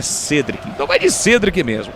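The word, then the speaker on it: Cédric: carreira consolidada na Europa, sempre era chamado de Cedric, né? Aí de repente veio pro São Paulo e ele disse: "Não, o nome correto, a pronúncia correta é Cedric.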